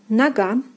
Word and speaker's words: нога: Next we have нога, нога, нога. The second syllable is stressed and O is pronounced as A.